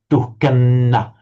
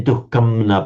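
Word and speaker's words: दुःखं न: So in that circumstance, the anuswara is pronounced exactly like the following n, as if it's a double n. Duhkanna. You wouldn't say duhkamna, but duhkanna. Written as the anuswara, but pronounced as a double n.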